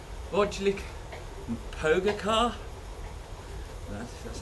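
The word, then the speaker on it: Pogačar: You're just saying words now to try and get me to pronounce them, aren't you? Like Vodlik and Pogacar.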